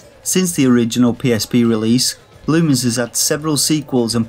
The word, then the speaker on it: Lumines: Lumens Remastered is available on Steam, PS4, Xbox One and Nintendo Switch. And yeah, I know, you're probably going to tell me it's pronounced Lumines. I don't care, I'm Northern.